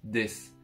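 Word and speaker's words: です: Quand on fait une phrase en japonais, la plupart du temps, on termine sa phrase par des qui s'écrit d'ailleurs des sous mais ça se dit des.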